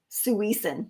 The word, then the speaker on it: suisen: someone Sarah said it's suisen su su yes I saw that so she says all syllables are equally accented don't emphasize the second syllable suis and did we